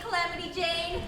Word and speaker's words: Calamity Jane: And how are you this fine day, Calamity Jane? Want to play some cards? For the 100th time, it's Calamity Jan. J-A-N with a silent E.